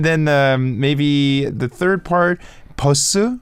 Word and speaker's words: 버스: And then maybe the third part, 버스, like the bus. So how do you say? Are you supposed to say bus or bus? People mostly say 버스. Bus, like double B. Exactly. Double P, bus.